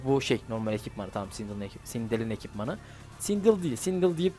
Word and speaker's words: Sindel: Normalde İngilizce'de şöyle bir gireyim ben o sırada. İşte bu ikinci gelen E, I ile I arasında bir kelime diye okunuyor. Normalde öyle okuyorlar yani, Sindel gibi oluyor. Yani tam şey de demiyorsun. Sindel de demiyorsun. Sindel de demiyorsun. Ortasını diyorsun.